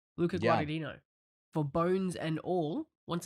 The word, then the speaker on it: Guadagnino: How do you pronounce his name again? Guadagnino. Luca Yeah. Guadagnino for Bones and All.